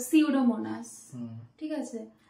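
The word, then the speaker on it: Pseudomonas: টা থাকে উচ্চারণটা হয় না নরমালি এন থেকে উচ্চারণটা হয় তো সিউডোমোনাস হুম ঠিক আছে তো এস থেকে হয় নিটের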